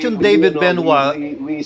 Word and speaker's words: Benoit: And when we asked him point blank, how do you pronounce it? It's Benoit.